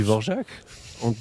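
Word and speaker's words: Dvořák: dit bar dit bar on dit vorjac alors par contre sur vorjac je peux être très très embêtant parce que si les si les gens le prononcent mal là ça m'agace mais je sais pas pourquoi c'est c'est c'est à la tête du client mais c'est effectivement c'est c'est même pas de vjac en fait normalement c'est devjacjac voilà c'est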